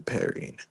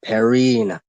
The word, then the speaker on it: Perrin: Question is, which one will suit you, Perrine? I told you before, it is Perrin, not Perrine. Isn't it the same thing? Hmm. Different pronunciation, my friend.